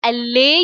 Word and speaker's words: allay: So somebody saying allay your fear means to reduce your fear, to pacify you, to help you in calming down in any tense situation. So LA rhymes with delay, and delay you can